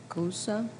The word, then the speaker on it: gyoza: The tang of the lumpia and the sour of the gyoza.